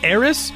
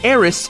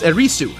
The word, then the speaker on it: Aerith: Aerith is called Eris in the English version of the game, but that's only because that's how the Japanese pronounce the name with the TH spelling. That way, they avoid people saying her name as Erisu, which is definitely not it.